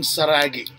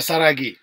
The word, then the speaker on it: Saragih: Anyway, this is Saragih. It's actually because we're using a Dutch pronunciation, so we actually his name's. If you put them to English, Saragih.